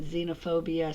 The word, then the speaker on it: xenophobia: in yourselves notice that xenophobia starts with the letter X but it's pronounced with a z I also want to